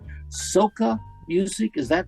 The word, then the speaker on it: Soca: Calypso and then I'm print I think I'm pronouncing this right Soca music is that right Soca s-o-c-a he has